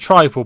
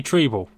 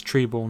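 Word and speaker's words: Trybull: I know they pronounce it tribal, but it's definitely Treble. Godfrey. Jamal Lewis. Well, at least I remember watching a game on it. A game of theirs, and they said it's Treble, not tribal, last season.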